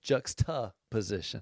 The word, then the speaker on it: juxtaposition: JUXTA Yeah, so you guys weren't pronouncing it right. POSITION. So it's Can we get some like literate people in here? juxtaposition.